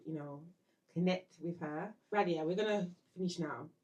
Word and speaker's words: Radhiya: um so for YouTube it's my name I'll spell it it's Radia r a d h i y a and